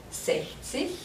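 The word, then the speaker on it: sechzig: hear it try it if you said sexy you were right again say see and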